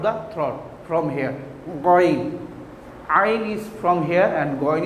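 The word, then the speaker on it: ع: My dear students, you have to pronounce Ain like that, Ain, from middle of the throat.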